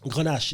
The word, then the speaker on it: Grenache: Is that how I pronounce that? Vin Grenache. Is that right? Grenache, yes.